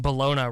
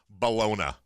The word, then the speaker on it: bologna: a pound of coffee I had no idea that I had been pronouncing Bellona wrong ah that's the one thing that stood out to me more than anything Vin Scully saying Bologna Sam amick is ready